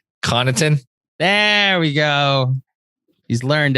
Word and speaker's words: Connaughton: Let me get sure I get the pronunciation right. Connaughton.